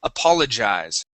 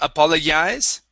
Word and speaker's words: apologize: So, this G is going to make a J sound. JJ. Apologize. Try that. Apologize. Okay. Um, let's talk about the J. Okay. So, um, right now you're saying apologies. Okay. Pronouncing more of a Y sound. Y. Okay. That G makes a J sound.